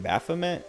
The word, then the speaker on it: Baphomet: or whatever or he said he said the name wrong uh and i was like oh you mean baphomet and he's like yeah yeah and i was